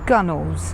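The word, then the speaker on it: gunwale: Over time, the pronunciation and spelling of gunwells was shortened to gunnels, and now this is the most accepted form.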